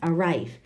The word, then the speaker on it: arrive: what about number two we have two syllables is it the first or the second what do you think it's the second arrive our rife are rife